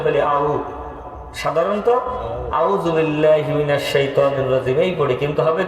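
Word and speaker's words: الشيطان: তাইলে শাইত শাইত অনেক ক্ষেত্রে সাধারণ মানুষ যারা উচ্চারণ সঠিক জানে না বলে আউজুবিল্লাহি মিনাশ শাইতানির রাজিম তাই না শয়তান পড়ে না এই পড়ে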